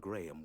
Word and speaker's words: Graham: did you hear that he pronounces the H slightly he pronounces it the